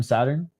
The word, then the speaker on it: Saeteurn: Just Saeteurn? Crazy way to... Oh, yeah, wrong turn, Saeteurn.